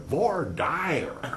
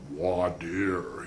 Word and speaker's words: voir dire: It's not only done differently throughout the country, but it's pronounced differently throughout the country.